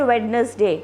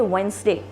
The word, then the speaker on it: Wednesday: wednesday you don't say wednesday you say wednesday wednesday thursday friday so you say wednesday you don't say wednesday please remember wednesday that's how you pronounce it the next word